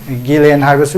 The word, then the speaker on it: Ghislaine: Maxwell hai adu ma gi pronunciation je ko Ghislaine hai ba su yai adu Ghislaine hai